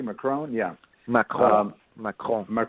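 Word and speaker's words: Macron: right so he's actually how do you say McCrone am I saying it correctly McCrone yeah my calm my cosmic Rania so he's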